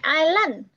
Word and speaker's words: island: Không phải island, lên là có lên rồi.